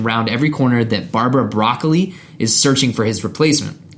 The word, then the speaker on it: Broccoli: It's broccoli is how you pronounce that. Not broccoli. Not broccoli.